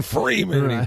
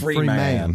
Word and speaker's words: Freeman: And you pronounce the man part at the end. Free man.